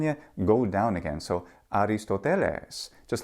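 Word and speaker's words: Ἀριστοτέλης: a student of Plato Aristotle in the classical Greek pronunciation is aristoteles which means something like noble ends but in modern Greek pronunciation it's aristotelis ancient Greek has pitch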